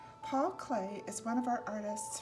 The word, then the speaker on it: Klee: consultant for this book Paul clay pronounced clay was born near Bern